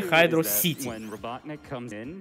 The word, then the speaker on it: Hydro City: говорили это шутки про то, как надо правильно произносить уровень, который второй по счету в этой Sonic 3 Knuckles, а именно Hydro City. Или Hydro City.